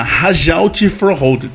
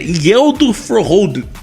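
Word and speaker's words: Hjalte Froholdt: A princípio você fala Rajaut Froholdt, mas na verdade é Yeldo Froholdt.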